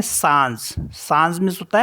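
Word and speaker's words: singe: एस आई एन जी ई इसको पढ़ते हैं सांज सांज मीस होता है मंकी और नेक्स्ट वर्ड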